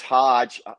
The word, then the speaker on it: Hodge: I have one yep it's it's Hodge pronounced like Dodge but no B in it so yeah yeah